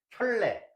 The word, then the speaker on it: 켤레: 자 우리 할례 복소서라 그러는데 발음 잘해야 돼요. 선생님이 공식적인 학생이니까 그 농담은 못 하겠고 켤레 우리가 한 켤레 켤레 그랬는데 그게 아니라 짝이라는 뜻이죠. 우리가 신발할 적이에 한 짝.